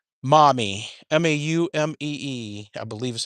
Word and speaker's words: Maumee: This town is called Maumee. Maumee, I believe is how it's spelled. Maumee. Almost like mommy.